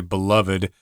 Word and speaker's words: beloved: I pronounced it beloved when I read this article, but I guess you could also say beloved.